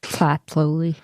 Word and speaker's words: Tlatolli: Tlatolli. Yeah, you got to like push the air. It's like you don't really pronounce the T. It's more like Tlatolli.